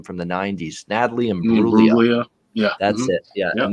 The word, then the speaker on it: Imbruglia: Natalie Imbruglia. Yeah. That's it. Yeah. And that's exactly how you pronounced it. And it had a G in it too. The G is silent.